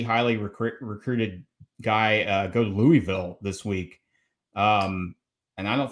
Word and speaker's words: Louisville: So it's pronounced Louisville. Louisville. I butchered it. Butter in your mouth. Louisville. Louisville. Okay. Louisville. Yeah. You know, it's not Louis.